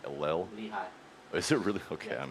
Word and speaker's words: Lehi: Lehigh.